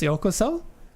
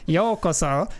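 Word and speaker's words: ようこそ: So I sent him an email with the, like, how to pronounce yokoso. And I don't know if I sounded like a bit of a dick. Like, actually, it's pronounced yokoso instead of yokoso, which is how he said it.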